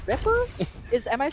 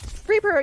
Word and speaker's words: Reaper: Ripper? Am I pronouncing that correctly? Reaper, you can definitely use Reaper, a really unorthodox